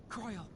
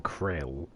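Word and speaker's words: Krile: Croyle. Oh, that's how you pronounce it. I'm saying krill.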